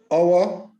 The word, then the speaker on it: hour: Our, honest, honor, honorable, and heir should not be pronounced with an H.